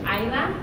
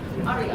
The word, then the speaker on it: Aira: And it's funny in Spanish, aira, like makes more sense. People say it right compared to like aria.